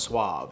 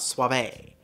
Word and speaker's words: Suave: one here is le4 dominicanas SWA also it's pronounced Suave it's not Suave the leflore Dominica Suave is a superior supremely creamy elegant combination of